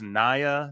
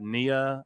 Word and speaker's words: Nia: She's like, "Hey, David, it's Nia, not Nia, and you sure were